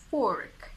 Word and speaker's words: fork: In the British accent, it's fork. Fork. Look at my lips. Fork. Oh, they are rounded, right? So basically you need to round your lips in order to pronounce it and make the O sound. Would you please give me a fork? Fork. It's not fa, it's O.